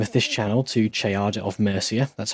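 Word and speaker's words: Ceadda: to change the name of this channel to Chada of Mercia that's how you pronounce it by the way unless somebody fluent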